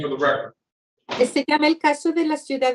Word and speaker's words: se llama: I know it is, the double L is a Y, thank you, Leah. She says, se llama. Se llama. That's the correct pronunciation.